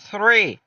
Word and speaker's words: three: Então, o 3 não é tri, é three. Three. Three. Com um soprinho, língua entre os dentes.